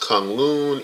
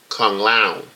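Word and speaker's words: K'un-Lun: I believe was pronounced I thought it was pronounced come loon in the in the comics but apparently on the trip on the trail or Danny's pronouncing it come loud so it's a I don't know if that done on purpose or if that's the proper pronunciation I don't know but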